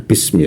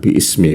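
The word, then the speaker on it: بسم: Tetapi menurut para ulama, karena ini sering dibaca ya, jadi alifnya ini dihapus, jadi bacanya agak lebih cepat ya, bismi ya, bukan biismi begitu.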